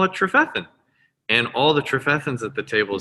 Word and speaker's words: Trefethen: glasses before you get that trophethan it starts to flow you know it's accent on the second syllable um but uh you